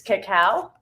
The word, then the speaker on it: cacao: a huge difference but there's a difference between cacao and cocoa okay so this is cacao see how it's spelled c-a-c-a-o and i think i've got coco